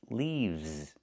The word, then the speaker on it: leaves: is not leaves, it's leaves. We use the letter V and pronounce it v, plus the S making a Z sound like in zebra, leaves.